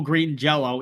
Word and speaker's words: Green Jellÿ: the O out over the Y turns the pronunciation to an O so it's still Green Jello even though it's not oh yeah okay so